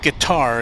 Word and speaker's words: Qatar: was because there were so many variations on how to pronounce that name and I kind of settled it on Qatar but of course I've heard it guitar as well or gutter gutter may be phonetically correct I don't know but this doesn't sound